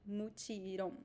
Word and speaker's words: mutirão: So pay attention to the pronunciation of the the nasal sound. In the indigenous language, it was just one sound, but in Portuguese it is So we have two vowels. It is a diphthong, a nasal diphthong. So you need to pronounce the two vowels.